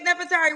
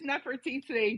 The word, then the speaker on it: Nefertiti: It's Nefertiti, but it's you No, can I'm gonna mess call you it right. up. I'm gonna get it right. How you say it? Nefertiti, but you can say TT or whatever.